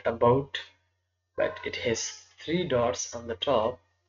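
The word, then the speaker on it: ح: The first, the beginning part is this one, and after that it is rounded like this and has one dot in the middle, and this can be pronounced Jeem, Jeem, Jeem.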